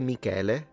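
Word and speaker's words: Michele: Yes, we say Mikuel. Uh but Miguel Angelo, it's the combination of the name Mikuel and the name Angelo obviously.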